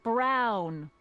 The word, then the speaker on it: Brown: Emmett Brown. Rhymes with clown, Clown.